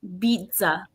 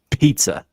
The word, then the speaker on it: pizza: T because it's Italian a double z has a t sound in Italian mhm who said Italy